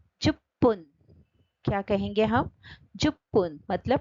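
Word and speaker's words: じゅっぷん: और देखो इसका मीनिंग, जुप्पुन, जुप, ये देखो ये जो चू छोटा है इससे पू का डबल उच्चार होता है और ये क्या है? जू बूंद मतलब इनफ, जू बूंद इनफ। इसमें उच्चारण से गड़बड़ हो सकता है और आपको ये अच्छे से रीड करेंगे तो उच्चारण में गड़बड़ नहीं होगा। जैसे जुप्पुन मतलब 10 मिनट्स और जुबुन मतलब इनफ।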